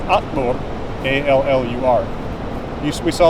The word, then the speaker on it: allur: Or the word all is Allur, A-L-L-U-R.